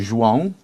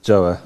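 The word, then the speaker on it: João: really pronounce your first name how do I pronounce it uh well it's actually xang but everybody knows me as joah joah okay I'm going to stick with Jo because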